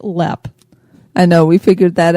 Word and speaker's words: Leap: last podcast we said leap Castle it's actually pronounced LEP I know we figured that out and so but it is spelled like leap like a frog would leap or maybe Frog's LEP